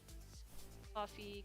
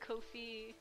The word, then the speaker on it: Ko-fi: you the link david i always pronounce this coffee it doesn't look like that at all yeah it's like kofi or kofi kofi also improved